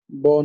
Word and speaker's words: বন: বন আসলে হবে বোন।